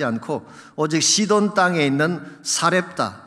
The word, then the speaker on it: 사렙다: 오직 시돈 땅에 있는 사렙다, 이 사렙다라고 하는 것은 사르밧의 헬라식 발음입니다.